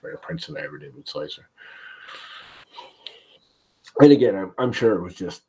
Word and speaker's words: Slic3r: Friday you do know it is not pronounced slic3r but slicer the man behind the